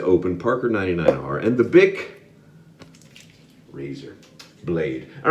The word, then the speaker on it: Bic: Bic razors, I think it's pronounced Bic. I looked at the pronunciation beforehand. It is Bic.